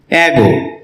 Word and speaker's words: ago: এগো এটাকে আমরা এগো উচ্চারণ করে থাকি যার সঠিক উচ্চারণ হচ্ছে এগো এই শব্দটি বাক্যে অ্যাডভার্ব